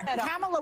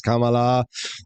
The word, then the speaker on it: Kamala: camea Harris camea Harris and I know her camela was first Biden and camela camela Harris camela